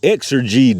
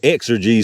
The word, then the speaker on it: XRG: the celia and below exergy defense 380 autos got xrg but they spelled it out here exergy so i guess that's how they want you to pronounce it uh these are again